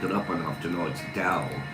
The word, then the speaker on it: Tao: Dow or tao. And we finally decided or finally looked it up and after knowing it's dow, even though it starts with a T, it sounds like it starts with a D.